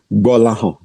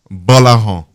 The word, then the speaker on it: Gbolahan: Gbolahan. Gbolahan. Oh yeah, not bad. Because the G and B is one alphabet together. They're not separate. It's GB and it's pronounced as B. Gbolahan.